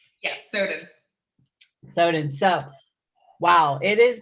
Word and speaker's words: Soden: Is that how you pronounce the last name? Yes, Soden.